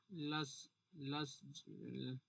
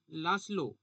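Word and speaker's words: László: আচ্ছা, সাহিত্য হচ্ছে লাস লাস এটা কি গো, লাসলো, কিন্তু বানানটা তো কি লাস, লাসলো, তাহলে লাসলো, দাঁড়াও,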